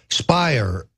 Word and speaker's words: Speier: Speier rhymes with liar.